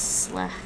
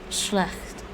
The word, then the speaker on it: slecht: Yeah, I think the Dutch dropped the CH, the first CH. It's slecht. Slecht. Schlecht.